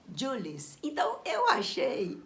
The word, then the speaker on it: Jules: aqui é Júlio Verne Mas como ele é francês a pronúncia correta seria Jules então eu achei o